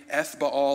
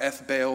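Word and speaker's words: Ethbaal: is probably most likely f baal or f bale the third depending on how you pronounce his name and his name literally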